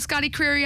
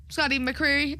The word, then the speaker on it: McCreery: Anyone familiar with Scotty Creary out there? Scotty McCreery? Oops, I said his name wrong.